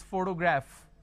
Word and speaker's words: photograph: the word which is photograph photography photographer so anything p h o here it carries a function of a fur but the letter f is not there so you've got to